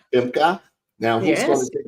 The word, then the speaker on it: Femke: We got her name, pronounced correctly, Femke.